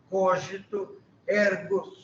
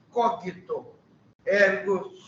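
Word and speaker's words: cogito ergo: su erg cito erg desculpe eu pronuncio a maneira eclesiástica cógito erg se eu fosse usar pronúncia moderna e defendida pelos alemães eu diria naturalmente cogito herg mas não era assim que Newton falava nem era assim que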